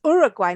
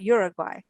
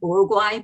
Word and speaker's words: Uruguay: was born and raised in iraq so it's uruguay not uruguay i was halfway there yes that's why we pronounce it uruguay but you know i've heard it pronounced in